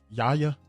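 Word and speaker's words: Yahya: Yaya. Oh, sorry. I think that's how you say his name. Yaya. Yaba Abdul Matin.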